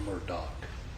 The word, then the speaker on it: Murdaugh: It is our honor to represent Alex Murdaugh, or Murdoch, depending on how you pronounce it.